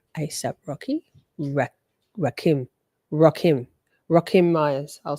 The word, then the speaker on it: Rakim: Ward said about isap Rocky ra Rakim roim rockim Myers I'll say it correctly too here we